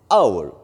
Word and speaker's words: hour: different a house and our the exit the beginning of the hour is silent it should be clear H is silent wild we pronounce is